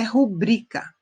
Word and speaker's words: rubrica: coloca sua who briga não é rubricar de acordo com a norma padrão é rubrika tá você fez colocou o som na sílaba tônica errada curtindo que você está